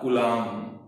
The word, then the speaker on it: coulomb: क्या वर्ड लिखा? कूलाम। मैं की साउंड आ गई, बैक की साउंड नहीं आएगी last. This B silent last वाला, एंड इट is represented by capital C।